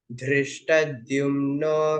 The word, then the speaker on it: धृष्टद्युम्नो: परमेश्वासः शिखण्डी च महारथः दृष्टद्युम्नो No, Mahaprana. धृष्टद्युम्नो विराटश्च सात्यकिश्चापराजितः.